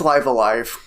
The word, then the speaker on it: Live A Live: uh and Jeremy real quick Jeremy okay it's live alive oh is it okay yeah uh well then